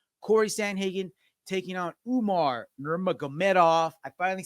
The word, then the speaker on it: Nurmagomedov: Corey Sandhagen taking on Umar Nurmagomedov.